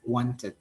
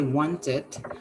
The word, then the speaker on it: wanted: this time we say want it uh if you ask me why because we already have the t sound at the end one right right yeah